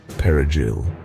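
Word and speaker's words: perejil: The Spanish word for parsley, perigil, sounds different when native Spanish speakers say it compared to Haitian Creole speakers.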